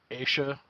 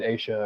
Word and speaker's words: Asha: it and i'm so i'm saying it asia that's how i i heard it as well i i saw i saw like a pronunciation thing yeah and then i also watched a a little 20 minute video that the fbi put out and they they said asia as well okay so